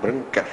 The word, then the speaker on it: Brancher: Escreve-se Brancher, mas é Branquer, a pronúncia.